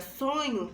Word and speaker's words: sonho: som então na palavra sonho possui possui 5 letras porém quatro fonemas porque a letra h não tem nenhum som e quando falamos as